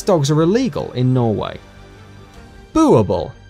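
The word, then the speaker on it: Boerboel: as prey these dogs are illegal in Norway booble pronounced boo our ball is a Dutch Afrikaans word for farmers dog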